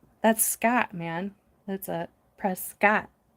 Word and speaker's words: Prescott: I do like Prescott Prescuit. Oh my god. I remember when I first went there, I got Oh, every Prescuit local was yelling at me in my comments for saying it wrong the entire video.